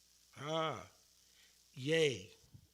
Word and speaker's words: ya: Ya estabas ganando y luego encontraste. Yay. Yay, not ya, it's yay.